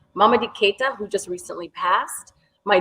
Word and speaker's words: Mamadi Keita: So first, the music comes from, I'm going to say his name correctly, Mamadi Keita, who just recently passed.